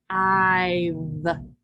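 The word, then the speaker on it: five: So this is 5. And the E is silent.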